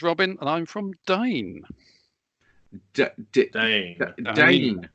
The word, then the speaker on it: Dehn: Dane. Dane. Right. So, there's my first question. Um, uh, Dane, not Den.